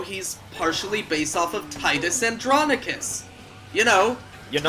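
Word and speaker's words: Tidus: By the way, yes, I pronounce it Titus. I fucking refuse to call him Titus. No, I call him Titus I- too because I think of like ocean tides.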